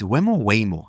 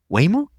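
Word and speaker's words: Waymo: weo has probably seen it's by the way it's weoo I now forgot how to pronounce it wayo wayo wayo way way way is in way yeah way more so wayo has seen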